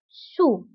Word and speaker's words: sous: وانتبهوا بالنسبة للسو كنكتبوها بأس في آخر الكلمة لكنها لا تنطق sur sous.